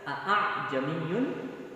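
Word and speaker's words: أعجمي: Tidak dibaca dengan izhar atau jelas a'jamiyun, justru dibaca dengan, ya, ringan, ditashil. Dari kata tasahhala yusahhilu tashil, artinya dimudahkan. Ya, mungkin lisan Arab susah untuk membaca a'jamiyun. Ya, maka dibacanya dengan tashil, dimudahkan. A'jamiyun. A'jamiyun. Ya, bukan dengan diizharkan.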